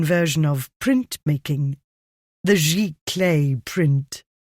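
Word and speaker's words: giclée: I pictured the word in my mind as he had pronounced it. What on earth is that? High flute name for a computer print out spelled G I C L E with an accent.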